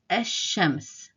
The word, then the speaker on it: الشمس: So what happens here is the lam, the weakest letter, is dropped from pronunciation, and we jump from the alif to the sheen and sort of make a short stress on the sheen instead.